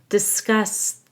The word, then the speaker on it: discuss: Yeta Rosie and Yeta discuss their Dental woes make sure you stress the second syllable of discuss because it's a verb we're going to highlight